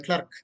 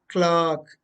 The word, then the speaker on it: clerk: want to meet the clerk it's not clerk it is clock is working as a